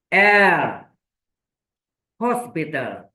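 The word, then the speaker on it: L'Hôpital: sudah pernah Terangkan dulu l Hospital gak pakai S ya Ada utopi Hospital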